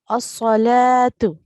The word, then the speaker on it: الصلاة: So this word is going to be pronounced as As-salatu. Okay, so we are not going to pronounce the wow.